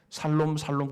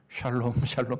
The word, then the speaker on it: 샬롬: 살롬 그러면 안 됩니다. 샬롬 해야 돼요.